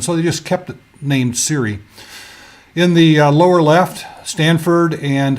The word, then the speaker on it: Siri: call that intelligent agent Siri and why did they well because s RI is too hard to pronounce so if you put an AI in there it's Siri and the technology for